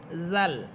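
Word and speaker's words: ذال: অর্থাৎ তা হরফটা যেমন জিহ্বার আগা সামনের উপরে দুই দাঁতের গোড়ার সাথে লাগিয়ে আমরা উচ্চারণ করেছিলাম। এখানেও দাল হরফটা সেম এভাবেই পড়বেন। দাল দুই জবরদান দান। এরপরে হরফ জাল।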